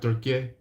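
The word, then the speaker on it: Türkiye: I think the new way of pronunciation of it is Turkey.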